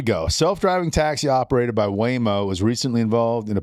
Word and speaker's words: Waymo: Self-driving taxi operated by Waymo was recently involved in a pedestrian accident. Waymo? That's what it says. Waymo.